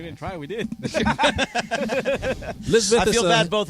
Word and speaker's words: Lisbeth: By the way, Lisbeth is a girl's name pronounced Lisbeth. It is of English and Hebrew origin, and the meaning of Lisbeth is "God is my oath."